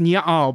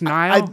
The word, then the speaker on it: Niall: I thought it was pronounced Nyal, but it was just Niall.